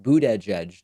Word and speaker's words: Buttigieg: mine, Trump also seems to be adopting my pronunciation of Pete boot edge, edge tweeting quotes, boot edge, edge parentheses.